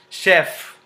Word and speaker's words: chef: say is not silent Chef you know uh in kitchen in Cuisine or in the hotels the chef the word Chef which is a basically a French word so f is not silent Chef b b